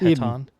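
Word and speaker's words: Hetan: I think it's Eaton. Eden. Yeah. Yeah. eaten is how they pronounce it in the in the in the eating. Like the H is silent.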